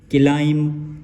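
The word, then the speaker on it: climb: एम बी नम नम क्लाइम सी एल आई एम बी क्लाइम इसको तकरीबन उचार हैं क्लाइम क्लाइम क्लाइम ड कैसे नहीं होगा इसको हम पढ़ेंगे क्लाइम क्लाइम और क्लाइम ड सेकंड फ थर्ड फॉर्म बनाने के लिए क्लाइम क्लाइम ड क्लाइम ड ऐसे नहीं पढ़ेंगे उसके बाद लब्ज आता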